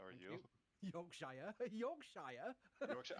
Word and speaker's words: Yorkshire: Spaceflight, joining us from the People's Republic of Yorkshire. Chris, how are you? Yorkshire. Yorkshire. How do I tell me how to pronounce it?